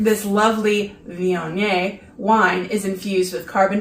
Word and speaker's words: Viognier: Okay, so do you want me to look up how to pronounce the type of wine it is? Viognier.